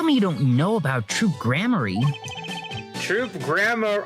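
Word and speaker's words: Troupe Gramarye: you don't know about troop grammar troop grammar oh there's our pronunciation of course they give us the pronunciation all this time later troop gramar uh no but it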